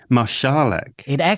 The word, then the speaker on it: Marszalek: actually, because his father, you would pronounce the S as Esh, because his father was of Czech origin, as you wrote in your book. Oh, so how do you pronounce Marszalek? Marszalek.